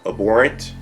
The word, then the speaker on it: abhorrent: This article right here entitled Lucasfilm calls Gina Carano social media posts abhorrent. Let me pronounce that again. Abhorrent. I think it's abhorrent, not abhorrent. Actress no longer employed by Mandalorian studio.